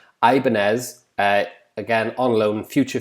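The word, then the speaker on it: Ibáñez: those like i said ibanez i presume that's how you pronounce it like the guitars ibanez uh again on loan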